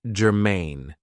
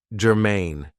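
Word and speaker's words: germane: So, the first adjective I have for you is gerine. Now, this is two syllables and the stress is on the second syllable. Gerine.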